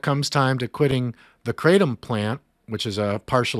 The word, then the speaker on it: kratom: a natural plant opioid called kratom or kratom, or in Thailand, it's pronounced kratom, because that is a much weaker partial opioid agonist versus a full power, full opioid agonist.